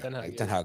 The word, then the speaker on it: Ten Hag: Is it pronounced Ten Hag? Yeah. Ten Hag. I think I've been calling him Ten Hag recently by mistake.